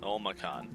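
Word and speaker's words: Olmakhan: Olmacan. That's how you pronounce it.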